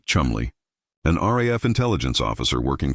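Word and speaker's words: Cholmondeley: The man who conceived Operation Minsmeat was flight Lieutenant Charles Cholanderly, pronounced Chumley.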